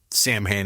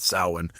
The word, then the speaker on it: Samhain: Danzig's next band uh Samhain, that's how he pronounces it, not Samhain, uh will cover the song.